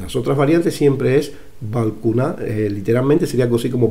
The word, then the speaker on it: Balkuunah: Balcuna, balcuna, balcuna. Esa sería la pronunciación de esto que está escrito, por lo menos en un códice.